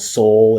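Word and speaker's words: Sol: It's called Soul. It's spelled S-O-L, the Spanish word for sun.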